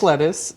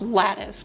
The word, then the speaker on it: lattice: hand so micro think lettuce it's fun I love that you say micro sink lettuce pronounced and spelled lattice but I love the lettuce